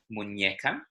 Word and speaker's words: muñeca: So that's got another accent, this time over the N, which means that it's a different letter. It's an ñ. muñeca.